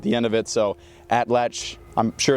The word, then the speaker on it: atlatl: so now we're going to be using an atlal which is not even actually the correct pronunciation it's actually atlach it's a it's a naat word so it's